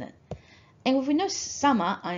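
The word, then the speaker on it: 様: And this kanji is pronounced sama, for example, kami-sama.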